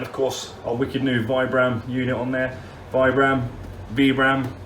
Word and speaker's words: Vibram: way than vibram but when you look it up that is actually how you're supposed to pronounce it vibram right now i have